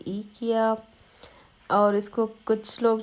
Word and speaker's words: IKEA: हम लोग तो यहाँ पे ईकिया बोलते हैं क्योंकि स्वीडन में जो है वो आई को ई पढ़ा जाता है, तो इसलिए हम यहाँ पे इस तरह से ही प्रोनाउंस करते हैं।